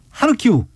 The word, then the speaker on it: 하르키우: 외국어 표기법상 현지 발음에 가깝게. 그래서 역시 KBS군요. 예. 키예프는 앞으로 키이우입니다. 키이우. 하리코프는 하르키우.